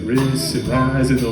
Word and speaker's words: Rhys: So, that said, my name is Rhys. Last name is. I'll spell it out for y'all here.